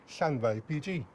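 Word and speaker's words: Llanfair PG: Or as we say locally, Llanddwyn, PG.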